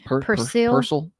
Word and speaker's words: Persil: Persil. How you say it? I don't see a lot of commercials for that one. I know Tide, I know Gain. I said a C, but it was an S.